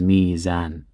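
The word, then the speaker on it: ميزان: a kasra preceding a waw sakina, it's difficult to pronounce. This, we don't have this in the Arabic language. That sound, meow, ill, we don't have that. So what happens in this case? The waw is turned into a ya to make it easy to pronounce, and it becomes mizan.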